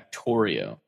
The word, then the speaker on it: Factorio: Factorio. Mm-hmm. I don't know what it is. It rhymes with Mario.